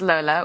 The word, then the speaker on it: Lola: Well, you introduced yourself to me as Lola, which Right. is fantastic and sexy, but you know at home we say Lola.